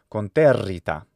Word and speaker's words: conterrita: Latin double R is a geminated consonant, so it's longer in duration. Conterrita. So that syllable has to be long, and thus the R sound lasts for longer. Conterrita.